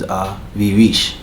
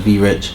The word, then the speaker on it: Vie Riche: I mean, the real pronunciation is Vie Riche, which is French. But you know, we from New York. We don't got that accent, so it's Vie Riche.